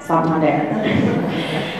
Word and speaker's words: Santander: That is how you say it, Santander.